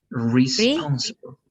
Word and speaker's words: responsible: This one is only going to be like responsible, like re at the beginning with E. Responsible. Responsible? Responsible, correct.